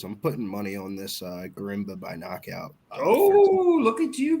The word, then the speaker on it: Gorimbo: It's Temba Gorimbo.